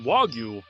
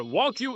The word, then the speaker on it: Wagyu: For starters, it's pronounced Wagyu, not Wagyu, a fairly common mispronunciation. What's more, Wagyu isn't a blanket term for all Japanese cows.